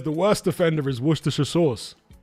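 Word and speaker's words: Worcester: How do Americans pronounce it? Was Shshire or something like that? How do they say it? No, not Mama Jack. Happy Jack. He's a character in a movie that came out Shortly after the turn of turn of the millennium, excuse me. So they pronounce it Warchester.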